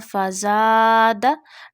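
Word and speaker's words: فزادهم: When fatha come before alif, you stretch that alif up to one alif. This is called alif madda. So do alif madda. Fazada. Don't stretch fatha on dal.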